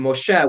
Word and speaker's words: Moshe: mooshites um there are which comes from moshe which is you know his hebrew his hebraicized name how it would have been pronounced in ancient israel and how it's still pronounced today among hebrew speakers so i think that